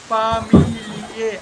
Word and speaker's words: Familie: Here it is Familie. All vowels are equally pronounced. Familie.